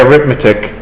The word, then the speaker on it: arithmetic: but I mean uh we pronounce it differently if we're using as a noun or as an adjective so as an adjective it's aromatic uh but as a noun we say arithmetic I don't know if